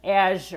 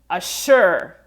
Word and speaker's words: Azure: I've heard the word assure, assure, A-S-S-U-R-E, which obviously is a word that you'll find in the dictionary. Assure. So we can see how these two words actually sound almost the same, right? Azure, assure. And especially if you're talking a little bit fast or you don't get that vibration in Azure, it will be easier